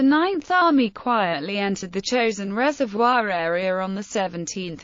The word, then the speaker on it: Chosin: of the Korean Peninsula the name chosen is the Japanese pronunciation of the Korean place named Chang Jin and the name stuck